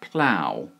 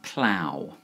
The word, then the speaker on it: plough: asked in one of the comments recently it's pronounced plow um plow uh so I suppose it's a bit like